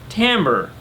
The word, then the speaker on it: timbre: want it to match, is pronounced timbre, which thank you, because I had heard it pronounced timber and I was with you. That doesn't sound right.